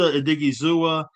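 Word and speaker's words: Odighizuwa: And Osa Odigizua is 20.75 at 16.25 base.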